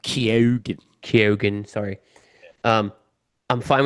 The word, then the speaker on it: Keoghan: It's pronounced Keoghan.